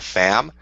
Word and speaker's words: Pham: it's a conspiracy because her name is Nina fam but it's spelled Pham like Pharmacy like she's a secret